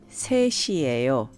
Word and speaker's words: 셋이에요: Now, please note that 셋, 3, 이에요, the be verb, is combined and is pronounced 셋이에요. Separately, it's 셋, followed by the verb 이에요. Putting these together, they're pronounced 셋이에요.